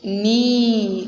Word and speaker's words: knee: Knee. What it is? Knee. Mokalu. Knee. Knee. Knee. It is pronounced as knee, not knee.